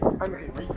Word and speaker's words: André: André, c'est comme ça que je dois prononcer? André, oui. André.